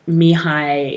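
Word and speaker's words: Mihály: mihai yes yeah exactly so mihai is like me hallie it smells like that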